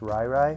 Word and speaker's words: Riri: same thing, R-I-R-I, and she said that it's pronounced Rai Rai, so I don't know if it's Rai Rai Williams or Riri Williams, but you want to